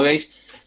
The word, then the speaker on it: gauge: Acá está escrito e se pronuncia gage, ¿no? Este, si bien es una palabra francesa, se pronuncia, todo el mundo la pronuncia como gage.